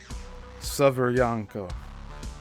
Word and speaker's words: Severyanka: in the 1960s while commander of the sub Severyanka, and that's spelled Severyanka.